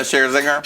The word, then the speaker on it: Scherzinger: And he has Nicole Scherzinger. Is that how you say it? Yeah, Scherzinger.